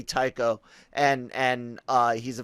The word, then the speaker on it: Tycho: someone's had pronounced uh someone had tried to say that it was pronounced taicho and and i was like no it's gotta gotta be tycho and and uh he's